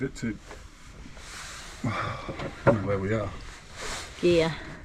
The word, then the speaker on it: Gigha: Gigha. Gigha. It's spelled Gigha with an H.